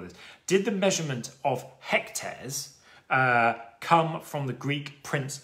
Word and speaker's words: hectare: Hect, from the Greek, for 100, but then aere, kind of, or hectare, as we would pronounce it, does in fact come from the Latin aria.